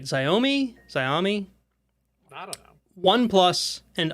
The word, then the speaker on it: Xiaomi: Phone manufacturers like, I think I'm pronouncing this right, Xiaomi?